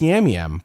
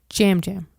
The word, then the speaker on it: Yam Yam: Jam Jam. Is it Jam Jam? Yeah. My apologies. Spelled with a Y, but it's pronounced with a J.